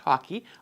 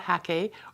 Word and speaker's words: hake: rough paper with a hockey brush uh and my painting today is going to be inspired by my recent trip to Scotland I've learned recently that it's pronounced hockey like the game not hack or like I had